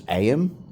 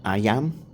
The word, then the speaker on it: Ayam: I thought it was Ayam or something like that, but it's actually pronounced Ayam, and it's Malay.